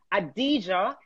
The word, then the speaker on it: Adidja: I'm going to pronounce it right. Addija ADIDJAAZIMPALMER.